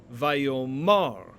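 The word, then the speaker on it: וַיֹּאמַר: in the hebrew scriptures however in amos 1 2 the stress shifts and we end up with the form vaio mar and so when the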